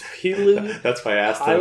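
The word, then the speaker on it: Pilou: I'm not gonna lie, I can't pronounce his name. It's Pilu.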